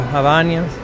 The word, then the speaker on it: Havaianas: The most popular flip-flops in Brazil, Havaianas. How do you pronounce it? Havaianas.